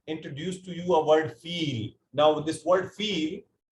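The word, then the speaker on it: فيل: It is pronounced as feel. It has a spellings of fa, ya, lam.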